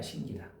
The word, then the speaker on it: 신기다: 다른 거는 그럼 여러분들이 그냥 발음하셔도 된다니까. 근데 저거는 헷갈려. 확실히 암개 놓은게 좋아. 신기다야. 신기다.